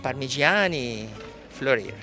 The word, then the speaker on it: Parmigiani Fleurier: Parmigiani Fleurier. Okay, next, and no trick there, Parmigiani Fleurier. Parmigiani Fleurier, you pronounce the name just like the cheese, but